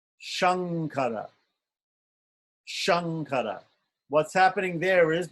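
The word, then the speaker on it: शङ्कर: S so the S the S in which is palatal is like Shankara Shankara what's happening there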